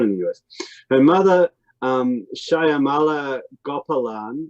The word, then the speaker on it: Shyamala: Her mother, Shyamala Gopalan, was a Shyamala. Okay, thank you. Shyamala and Kamala. Shyamala, there we go.